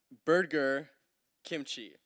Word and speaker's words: Burger Kimchi: It is pronounced Burger Kimchi. Burger Kimchi. Oh, like the two foods.